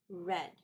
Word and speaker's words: read: the same but this in the past form is pronounced as red just like the color red I read a book